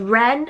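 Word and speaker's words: Wren: that are really pretty i also love ren and that is spelt with a w so w-r-e-n i just think that's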